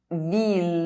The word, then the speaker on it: ville: fille girl grille gate ILL is only pronounced if preceded by a consonant and followed by a vowel, except in: ville town, city mille one thousand tranquille quiet, peaceful Lille Lille (French city)